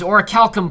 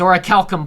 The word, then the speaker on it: Orichalcum: Anyway, I've been informed many times by the internet that it is Orichalcum Plus. It's like a Greek K, like Kerberos. It's Orichalcum Plus.